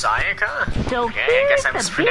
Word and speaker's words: Sayaka: Oh, it's Sayaka? So okay, I guess I here's was the pronouncing it wrong.